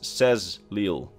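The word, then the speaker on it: Saxhleel: Think about the word sex-lil, which is usually pronounced as says-lil. So the H is completely silent, and the X's get pronounced as Z's.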